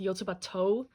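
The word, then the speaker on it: Yotsuba&!: think someone corrected me and said that it's pronounced yotubato this like an symbol is pronounced as toe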